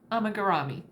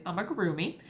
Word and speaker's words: amigurumi: also just recently found out I have been mispronouncing for the last year it is not amagami it is is I'm a groomy um which simply looking at the word might